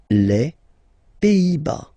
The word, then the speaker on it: Pays-Bas: Final S here, not pronounced. Same thing here. Pays, pays, and then bas. Les Pays-Bas. Okay?